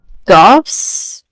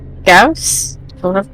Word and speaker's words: Gauss: I guess she's going to aim the Gauss rifle? Is that how you pronounce that? Gauss?